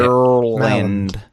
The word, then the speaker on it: Maryland: Maryland. This is like Arkansas all over again. It's like Marilyn Monroe, but with a D at the end.